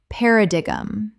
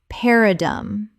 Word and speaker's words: paradigm: Paradigum. Correct pronunciation. Paradum. Three syllables. The gn at the end makes no sound at all.